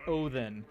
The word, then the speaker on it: Odin: to be pronounced uh Odin is supposed to be pronounced Oin, but um Yes. Uh the the they have a dedicated letter for the sound.